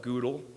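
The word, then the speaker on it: GDAL: There are also different ways to pronounce it. I use GeCo, as noted, and OGR for whatever reason. Other people call it Goodle or Ogre.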